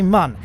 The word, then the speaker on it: Mun: So now people are thinking, oh, he's finally pronouncing mun correctly because mun has an umlaut above the U. And no, it doesn't. All the endgame descriptions and indeed the squad staff, they all say mun.